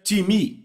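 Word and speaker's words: τιμή: vem da palavra grega timi então s letra t i m e em português pronunciamos talvez TIM não se pronuncia dessa forma em grego se pronuncia timi repitam timi Ok então eu falei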